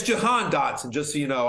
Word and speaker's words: Jahan: Yeah, it's Jahan Dotson, just so you know. I don't know how they pronounce it in Australia, but here in America, it's Jahan.